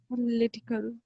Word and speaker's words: political: the stress is on political L I the stress is here okay political litical ly